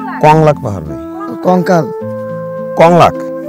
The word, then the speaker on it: কংলাক: কলঙ্ক পাহাড় কংলাক পাহাড় ভাই কঙ্কাল কংলাক আবার উচ্চারণ করেন কঙ্কাল পাহাড় কংলাক পাহাড় কলঙ্ক পাহাড়